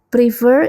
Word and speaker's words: prefer: Nah, kalau kita lihat prefer ini ada 2 syllable, tapi penekanannya pada suku kata kedua, prefer.